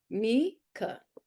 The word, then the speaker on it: Mieke: Me and then Ke, Mieke. Mika. Okay, perfect.